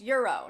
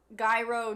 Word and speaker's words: gyro: tell Mary that it's supposed to be pronounced Euro not gyro gyro Ryo oh forget